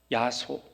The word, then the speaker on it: 야소: 야소, 야소. 지금 우리가 예수라고 하는 그 발음을 조선시대에는 야소라고 발음을 했습니다.